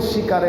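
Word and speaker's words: স্বীকারে: ये बांग्ला भाषा का एक ब्यूटी है, जैसे यहाँ आपने पढ़ा होगा शिकारे, तो उसमें स्वीकार का व जो है साइलेंट है, इसलिए वो शिकारे हो जाता है।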